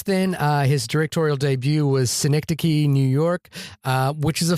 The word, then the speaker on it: Synecdoche: But it was the cause of much hilarity a la Matt and Shahir, where I kept on mispronouncing it. But Synecdoche, New York is a beautiful, beautiful film that is very difficult to watch.